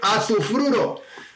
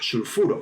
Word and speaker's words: sulfuro: Mucho ojo, no se dice azufruro, como he oído alguna vez, es sulfuro, porque viene del latín.